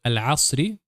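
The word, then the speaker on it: العصر: We note here that the lunar lamp letter always remains pronounced, if it appears at the beginning of the word or if it is preceded by a letter.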